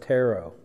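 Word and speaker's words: τηρέω: It's this word here, the Greek word behind kept is Strong's 508, and it's pronounced tero.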